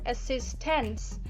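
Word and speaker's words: assistants: the singular word assistant so when the s is added in in the word assistant to make it plural uh the t is softens and we barely hear it while we pronounce the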